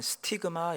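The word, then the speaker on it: στίγμα: 예수의 흔적이라고 하는 이 흔적이라는 단어, 헬라어로 하면 스티그마 이렇게 발음합니다.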